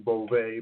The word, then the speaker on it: Bovey: She pronounces her name Bovey, but right, she was the presenter.